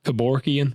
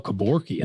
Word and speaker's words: Kevorkian: Was that Kevorkian?